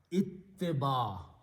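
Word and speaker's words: اتباع: Ittiba. The pronunciation is ittiba.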